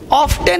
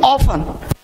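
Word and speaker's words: often: ऑफ्टन नहीं, ऑफन।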